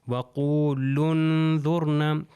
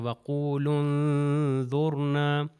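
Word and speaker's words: وَقُولُوا انْظُرْنَا: یہ ہو جائے گا وَقُولُوا انظُرْنَا۔ یہ دیکھیے وَقُولُن، لام کو نون سے ملا رہا ہوں تو ہو جائے وَقُولُوا انظُرْنَا، تو یہ لام جو ہے اگلے والے نون سے مل جائے گا۔ اب ہم چلتے ہیں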